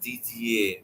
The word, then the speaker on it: Didier: It's a French name. It's supposed to be pronounced Didier, but nobody in my family ever said that.